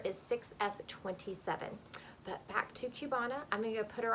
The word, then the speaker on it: Cubana: Hear all the details on Belle Tress's Cubana. Okay, here she is. This is I think I pronounced it Cubana. It could be Cubana. We're gonna go with Cubana.